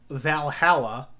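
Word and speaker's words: VA-11 Hall-A: I would love to play Valhalla, I believe is how the game is actually pronounced, but it is VA11-Hall-A, and that is I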